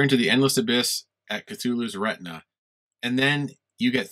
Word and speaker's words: Cthulhu: had to watch a youtube video to say cthulhu cthulhu um so you stare into the endless abyss at cthulhu's retina and then you get three choices one